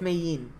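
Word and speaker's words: Mei Yin: hints to things there oh yo yeah it's mein that's how you say her name yeah that's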